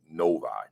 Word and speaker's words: Novi: is it no because people people say to me Novi noi na'vi you know people are from there but they give me all these different pronunciations I'll say Novi Novi uh Michigan so Novi